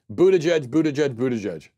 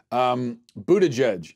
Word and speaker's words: Buttigieg: Buttigieg. Sounds like I'm summoning some sort of dark force from the underworld. Buttigieg.